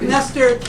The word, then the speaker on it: Knestor: uh Master Jack Dawes that's a silent k as in pumpkinster Jack Dawes is a